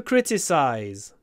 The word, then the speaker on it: criticize: critics wrong so to criticize criticism critics uh the stress is always at the start I think criticize criticism critics always on the first syllable that means always crit open your mouth criticize criticism critics not